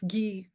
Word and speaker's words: Guy: your protagonist Alice guy is it pronounced blase Alice gee G and she wasn't blase